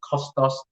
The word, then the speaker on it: Kostas: i'm not gonna lie it's costos think that's how you pronounce it so fingers crossed i